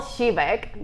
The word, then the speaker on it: Siwek: Yeah, it's actually Siwek. Most people struggle with it. It's Polish, so it's not very traditional. I love that. I didn't know that. Pronunciation. Siwek.